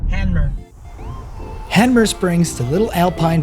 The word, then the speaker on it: Hanmer: Oh, we're in Hammer Springs. Oh, boy. Handmer. I keep saying it wrong. I say the M first and the N first. Handmer.